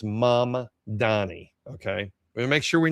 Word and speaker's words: Mamdani: So anyway, this is the guy right here, Zoron Manni. So it's Say it right because I've been getting it wrong the whole time. It's Mama Donnie.